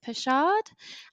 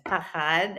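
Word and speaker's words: פחד: about two concepts um I'm hoping that I pronounce it right so it's pushard and also Europe yeah um yeah no one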